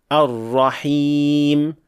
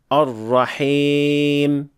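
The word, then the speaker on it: الرحيم: And pay attention to the Ya at the end of the word Ar-Rahim to pronounce it as a correct Ya without imala, saying Ar-Rahim, not Ar-Rahim.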